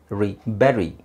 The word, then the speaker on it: bury: next word y yes but actually it is not bu it is B Bury Bury buried under the ground so it's not bu it's Berry pronunciation phonetics which is